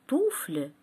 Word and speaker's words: туфли: и играют дружно фанты туфля слова туфли я прочту с ударением на ту каталог ударение в слове